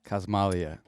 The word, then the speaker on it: Casmalia: But I pronounce it Casmalia, Cosmalia.